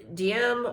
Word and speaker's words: Diem: His name was Go Dinh Diem, or sometimes it's pronounced Diem as well.